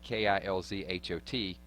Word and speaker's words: Kilzhot: to go through was spell it K-I-L-Z-H-O-T, Kilzhot, you know, kind of like Russian.